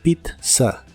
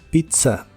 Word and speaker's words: pizza: italiana en inglés y la primera Z se pronuncia como t y la segunda Z suena como s Pizza Pizza usaremos la palabra today